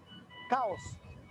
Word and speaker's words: chaos: Okay, so it's pronounced in British accent chaos, chaos, but in American accent it's more like there is a longer os, chaos, chaos. So in British, chaos. but in American, chaos.